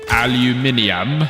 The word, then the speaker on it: aluminium: Okay, aluminum. Or as the British say, aluminium.